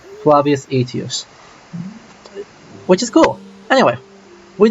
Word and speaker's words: Flavius Aetius: That's actually really good pronunciation for medieval Latin. Flavius Aetius.